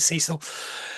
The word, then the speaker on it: Cecil: By contrast, I mean, Charlotte struggles a little bit, but it's her friend Cecil or Cecil. I'm not sure how you pronounce it in the States. We pronounce it Cecil.